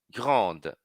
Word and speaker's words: grande: no no a nasal Grand pronuncia o d do feminino ó o segundo parf